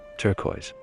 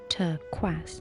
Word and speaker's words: turquoise: you call this Rebecca Safar little dull though turquoise your pronunciation is terrible Adam it should be pronounced turquaz so a tortoise is actually a tortois then